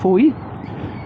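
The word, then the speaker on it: Fowey: Heading towards the small and rather upmarket town of Foy.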